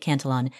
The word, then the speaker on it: Cantillon: Quick pronunciation note, some people call it the Cantillon effect, others pronounce it the Cantillon effect. I'll be calling it Cantillon.